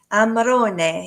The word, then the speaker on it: Amarone: I used to date an Italian guy, and oh my god, if you don't say it right, Amarone, you have to say e like like eh.